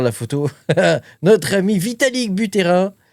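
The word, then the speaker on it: Buterin: Et donc notre ami, regarde la photo, notre ami Vitalic Butterrain, je vais prononcer à la française, Vitalic Butterrain euh nous annonce que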